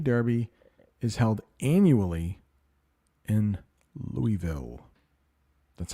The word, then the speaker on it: Louisville: and the Kentucky Derby is held annually in Louisville that's how you pronounce that Louisville let's talk about two very difficult words here